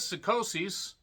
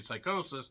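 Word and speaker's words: Psicosis: You had Psychosis, as one person says. It's actually Psychosis, if you pronounce names normally.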